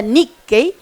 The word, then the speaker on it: nikkei: Nick no es Nicki por si acaso se pronuncia Nicki es ser descendiente de japoneses y japonesas nacidos y nacidas fuera de territorio japonés por lo tanto hay Nicki en Argentina chile Bolivia Estados Unidos Hawai París